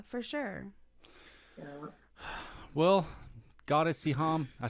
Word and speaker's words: Siham: Well, Goddess Siham, I said that right?